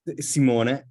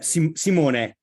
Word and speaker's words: Simone: Is it Simon? Is it pronounced Simon? Simone. I knew, yeah. Simone. Simona? Yeah, Simone.